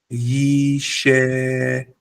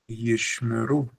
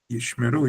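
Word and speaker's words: ישמרו: Actually, the incorrect way of pronouncing it would be yishemeru. This would be incorrect because there's no e and there's no e. Instead, there's a shva, which means pronounce as per normal.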